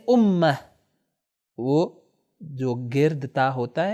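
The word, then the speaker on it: أمة: امت آخر میں یہ جو تائے گرد موجود ہے، اسی لیے اگر یہ امت اس کے آگے کوئی ورڈ نہ ہو تو عربی میں اس کو تلفظ کریں گے امہ.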